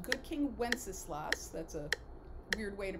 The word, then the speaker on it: Wenceslas: The first one is called Good King Wenceslas. That's a weird way to pronounce that word, but that's exactly how you say it.